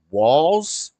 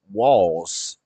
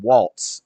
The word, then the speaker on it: Walz: Is it Walz? Matt Walsh pronounced it Walz. They're saying Walz. So it's not like Tim Waltz. There's no T in it, so I guess that makes sense.